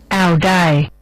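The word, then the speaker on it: áo dài: It's spelled A-O-D-A-I, spelled A-O-D-A-I. Audai. Audai. Audai.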